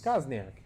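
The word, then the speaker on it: Kozenczak: Where It's is spelled correctly, even though it's Kosniak.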